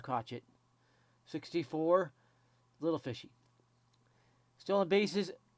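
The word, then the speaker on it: Crochet: And yes, it's pronounced Crotchet.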